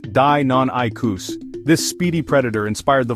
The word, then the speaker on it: Deinonychus: Here's the Deinonychus, pronounced Deinonychus.